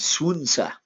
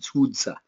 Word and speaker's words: Sun Tzu: Okay, but Sun Tzu is how I've been told to pronounce it.